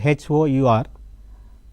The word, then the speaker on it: hour: times H is pronounced if H is kept as silent without H we pronounce the rest of the words like a actually it is h o u r we pronounce it as